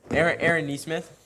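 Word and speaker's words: Aaron Nesmith: So, Aaron Neesmith, right?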